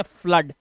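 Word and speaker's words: flood: इसे पढ़ते हैं ब्लड और इसे पढ़ते हैं फ्लड क्या पढ़ते हैं फ्लड यहां पर आधा फा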